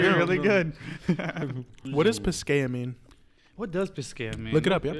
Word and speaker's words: Pisqueya: Oh, Pisqueya. Pisqueya. Pisqueya. Pisqueya. Yeah, Pisqueya. we're pronouncing it Yeah.